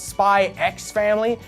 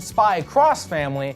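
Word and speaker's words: Spy × Family: X sometimes it's pronounced spy X family and worse uh sometimes X is pronounced like cross so I've heard spy cross family which sounds like an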